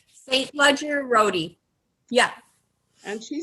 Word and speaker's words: St. Ledger-Roty: Jill, how do you pronounce it? St. Ledger-Roty? St. Ledger-Roty.